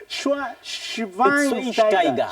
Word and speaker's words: Schweinsteiger: Matthews, I always find it a struggle pronouncing Bastian Schweinsteiger. It's Schweinsteiger. No, there's no W in German. That's how it's pronounced. There's no W That's in how it's German. pronounced. It's Schweinsteiger.